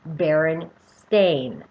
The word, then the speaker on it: Berenstain: any berenstain bears book it now is spelled like a stain b e r e n s-t-a-i-n baron stain now as a child